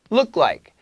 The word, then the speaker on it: look: L, L 꼭 잡으세요. Look like. Look like. Look like 말고 look like. L 발음 잡아. 그리고 look, look 이게 U 발음 아니고 it's more of a U. So L, U, 기억, something like that. Look, look, look. Book 이랑 비슷해요.